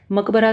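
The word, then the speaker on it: macabre: देखो, इसको याद करने का तरीका है, वैसे तो बहुत अलग सा वर्ड है, मकबरा से भी याद कर सकते हो। इसका प्रोनाउंसिएशन क्या बोल रही हूँ मैं? मकाब्रा।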